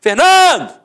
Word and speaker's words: Fernando: Por exemplo, Fernando! Ficou onde? A sílaba tônica? No NAN.